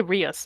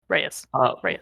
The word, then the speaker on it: Reyes: I keep I keep want to say Rus, but it's not Rus. Reyes. Yep.